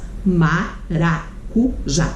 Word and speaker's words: maracujá: A sílaba tônica é o já.